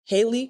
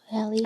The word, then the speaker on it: Hallie: So, like, Haley or Holly? Hallie. I think it's Hallie. Hallie, yeah.